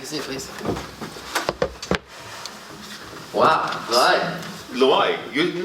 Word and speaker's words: Loay: Loay, you Now you said it right. Oh, before now? No, before you butchered it.